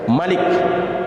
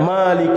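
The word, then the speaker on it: ملك: lagi ember rajanya manusia Malik ini jangan keliru bacanya Sebagian ada yang membaca Melik imnas ini salah dalam qiroah disini dada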